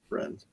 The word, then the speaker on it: Rennes: there's Rene and last Rene, how do you pronounce it? Rennes.